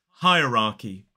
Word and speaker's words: hierarchy: Now, the first thing I'll say about this word is that we don't pronounce the second R, but we do pronounce the first one. So this is hierarchy.